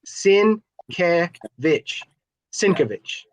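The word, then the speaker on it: Sienkiewicz: on his table and he'll tell you it's sin cincovitch that's how he's he pronounces it so i do know that one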